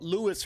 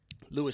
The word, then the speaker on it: Luis: Well, Luis. It's the first name is pronounced in the English way. Luis, thank you so much for joining us, first of all.